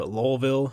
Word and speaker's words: Louisville: So good competition level at Louisville, or Lowellville, as people pronounce it. I don't know what the official one is. I go with Louisville, though.